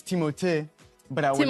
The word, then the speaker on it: Timothée: star finally reveals we've been saying his name wrong the whole time. Honestly, it's Timothée, but I would not oblige you to say it like that.